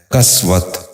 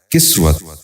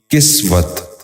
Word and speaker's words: کسوت: غور سے سنیے، کرختگی۔ چھٹا لفظ ہے کسوت۔ یہ غلط تلفظ ہے، درست تلفظ ہے کسوت۔ دوبارہ سنیے، کسوت۔ بچوں آپ بھی غور سے سنیے، کسوت۔ ساتواں لفظ ہے کسوف۔